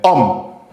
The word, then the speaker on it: homme: un H mu c'està-dire un H qu'on ne prononce pas quand on dit le mot quand vous dites euh homme pour parler de garçon